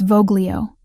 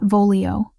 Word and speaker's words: voglio: It's Voglio, not Vololio. Soft G like this.